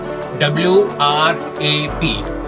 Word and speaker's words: wrap: Now when you're seeing the word wrap it up, the spelling goes W-R-A-P. Mind it? W-R-A-P. The W remains silent. So you have to say that word as wrap it up.